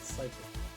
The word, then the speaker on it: Psychic: The P is silent and Psychic.